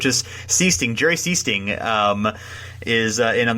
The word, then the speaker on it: Sichting: I do believe that Sichting is in the game, and I have a terrible time pronouncing his name, even though it's just Sichting.